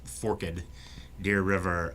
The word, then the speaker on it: Forked Deer River: song um the the forkadeer river and it's pronounced forked deer river um spreads out all across west tennessee and